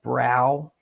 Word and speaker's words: Brough: How would you pronounce that? You would pronounce it like brow, right? That's what I would do.